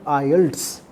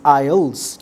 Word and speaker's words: IELTS: मैं फिर वही कहूंगा कि this is नॉट आयल्ड्स। T should not be pronounced here. इस टी को आपने बिल्कुल भी प्रोनाउंस नहीं करना while pronouncing this आयल्स। This is आल्स।